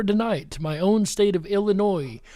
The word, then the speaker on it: Illinois: My own state of Illinois. Hope you don't pronounce the S in Illinois.